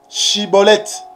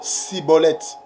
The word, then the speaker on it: Schibboleth: il devait être libre il est question de bien prononcer la prononciation chibolette mais non cibolette que Yoshua vous bénisse